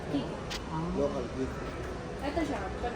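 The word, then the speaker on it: Chicco: Rubber nyo, Chico. Meron din kaming brand na Kiko. Chico. At pala black pinili. Kiko nila. Kiko ko talaga. Ang pronunciation talaga, Kiko.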